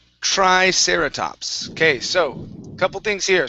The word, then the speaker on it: triceratops: word here is pronounced triceratops Okay So couple things here So we have the tr at the beginning with the tr You want to make sure you're pronouncing a chr Instead of try it's